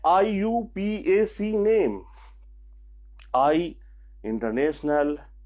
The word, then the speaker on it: IUPAC: तो ये आपका IUPAC नोमेनक्लेचर है, जिसको हम लोग, इसका प्रोनाउंसिएशन है IUPAC।